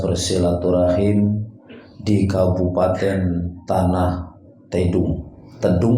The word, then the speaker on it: Tidung: Tedung apa Tidung dibacanya? Tidung, salah lagi nah.